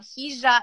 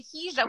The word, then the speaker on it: hija: I teach is called Hija Mia. But Spanish speakers are always like, wait, you're pronouncing it wrong, right? Because you wouldn't say Hija with the or the J, you would say Hija, right?